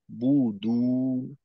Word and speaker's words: تعبدون: তো এক গোলের মাধ্যমে দুইটা আদায় না করে বু শেষ করার পর ঠোঁটটাকে একটু ছেড়ে দ্বিতীয়বার গোল করে দুয়ের উচ্চারণ করা।